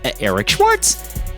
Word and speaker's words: Eric Schwartz: It's pronounced Eric Schwartz.